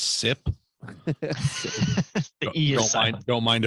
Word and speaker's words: Sipe: i get it right it's cpa no it is type i think i used to pronounce it cpe um i still will it's sip the eos i don't